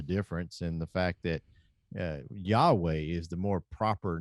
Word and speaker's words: Yahweh: Yes, by the technicalities of it, it should be Yahweh. But after so long, when we have used Jehovah with that mispronunciation of it, it becomes an accepted pronunciation.